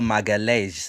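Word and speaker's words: Magalhães: called Gabriel Magalhaes. It's not Magalhaes. It's Gabriel Magalhaes.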